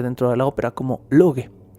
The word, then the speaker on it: Loki: verdadero de lo que se escribe lo que pero se pronuncia luque o luque por lo que es